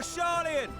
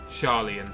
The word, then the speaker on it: Sharlayan: All aboard for Sharlayan! Sharlayan. That's how you pronounce it. Not Sharlayan, Sharlayan.